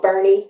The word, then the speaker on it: Boerne: All right, so now it's called Bernie, Texas. Oh, Bernie, Texas. Wow. Yeah. Bernie Sanders. Yeah. No, not Bernie. Bernie Sanders. It's spelled German. Oh, really? Okay. So I think it's Boerne. Oh. Bernie.